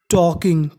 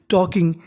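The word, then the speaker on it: talking: के आई एन जी टॉकिंग यहां पे लिखा है टी ए एल के टी ए एल के में हमारा एल साइलेंट रहता है हमें एल का उच्चारण नहीं करना पड़ता तो मीनिंग बन गई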